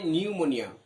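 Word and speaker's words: pneumonia: You will have নিউমোনিয়া, এটা দেখো উচ্চারণ, ইউ উইল হ্যাভ, পি এর উচ্চারণটা কিন্তু এখানে হবে না, এখানে হচ্ছে নিউমোনিয়া, তোমার নিউমোনিয়া হবে।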